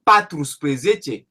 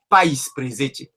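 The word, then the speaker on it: paisprezece: Si tu dis patrus presete, c'est pas faux. Mais pour l'harmonie phonétique, pour la facilité de prononciation, ils disent païsprezece et chaïsprezece.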